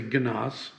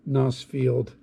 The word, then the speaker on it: Gnoss: at the roads around nosfield the airport where i'm based here it's spelled gnoss and some people say ganas and this is where